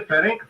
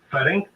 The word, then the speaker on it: Ferenc: the time of the 1941 German invasion, and Ferenc Farkas, F-A-R-K-A-S, the ABN military chief who commanded the army of Arrow Cross Chief Ferenc Zalati, S-Z-A-L-A-S-I, executed as a war criminal against the Russians in World War II.